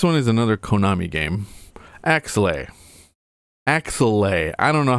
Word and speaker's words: Axelay: Axelay. I don't know how to pronounce it.